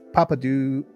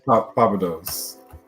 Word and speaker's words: Papados: Calvin saying to Collector Joey, I snitched and told my wife how you tease me with Papa Do SMD8. We're not working your pronunciation, Gio. It's Papados.